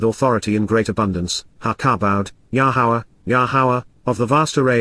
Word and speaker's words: Yahowah: From Dowd, La Dowd to you, Yada Yahowah, Yahowah, God's proper designation pronounced as instructed by his Torah, guidance on